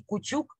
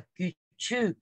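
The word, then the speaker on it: küçük: Не, только мы говорим не кучук, а кючук. Когда у нас кучук, есть точечки.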